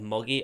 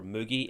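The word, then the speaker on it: Mugi: it into the semi-finals did have muggy or moogie if you want to say it wrong and their team and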